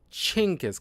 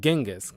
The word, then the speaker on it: Genghis: it's a kind of a common mistake among Westerners is Genghis Khan, like a cha, instead of the hard G sound, Genghis. That's not how you really pronounce it, turns out.